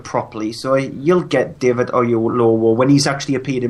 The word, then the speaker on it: Oyelowo: David by that man whose name I cannot pronounce. David Oyelowo.